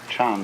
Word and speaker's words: Chan: word Jan and so this is being pronounced Chan in Chinese and Zen in Japanese is unfortunately untranslatable in